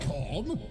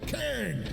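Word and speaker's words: Khaine: Gate of Cain. Ah, is this the Fenrisian pronunciation of corn? Not corn, Cain.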